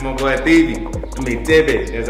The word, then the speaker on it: Thebe: I mean Thebe, that's how you say his name.